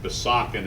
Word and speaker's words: Besançon: That's my French friend explaining that Besançon is not the way you pronounce Besançon.